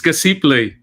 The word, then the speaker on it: Casiple: I think I'm mispronouncing it. It's okay. It's Casiple.